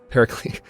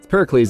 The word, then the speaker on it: Pericles: because hih Tusa is Pericles Pericles I'm using I'm using that Greek pronunciation from Assassin's Creed obviously Pericles is a city-state so